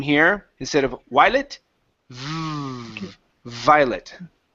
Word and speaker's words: Violet: Violet.